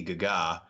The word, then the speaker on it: Gaga: conspiracy theory started that Bradley Cooper and Lady gaga I know it's pronounced Gaga but were pretentious on the show